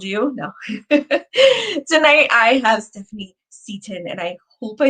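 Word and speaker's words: Stephanie Çetin: It's Stephanie Cetin, and that character does not exist in the English language. So you would probably only pronounce that correctly if you were Turkish.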